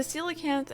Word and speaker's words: coelacanth: The silicanth, and yes, that's how you pronounce the name, is one of the longstanding rare fish in the Animal Crossing series.